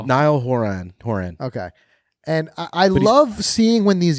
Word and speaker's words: Niall Horan: Niall Horan.